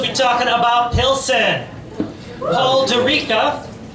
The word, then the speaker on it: Durica: Paul Durica, who actually I had to email today to find out how it's pronounced. He said like Eureka or paprika, so.